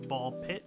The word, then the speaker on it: Ball x Pit: I was told that it's ball pit, so you might be pronouncing it wrong this whole time, but it's from Kenny's son and Deolver Digital.